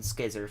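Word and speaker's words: Scizor: Skyzor, Skizzer, however you want to pronounce it. I like pronouncing it Skizzer, because Skizzers.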